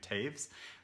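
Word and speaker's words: Toews: my puny Sorrows by Miriam Taves is that how you pronounce her name I always get her name wrong I I you know the my natural instinct is to call her Miriam TOS but I think it's Miriam Taves uh please correct me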